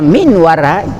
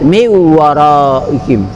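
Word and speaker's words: مِنْ وَرَائِهِمْ: Kenapa tidak dibaca min wara? Ini adat membaca yang disebut dengan hukum tajwid miwaraihim. Yang namanya hukum bacanya adalah idgham biguna, dibaca sambil dengung miwaraihim, dibaca dengan dengung.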